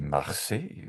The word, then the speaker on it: Marseille: Moi, je dis Marseille. On va Marseille. regarder. Although you have a very European French way of Ouais, pronouncing ouais, things.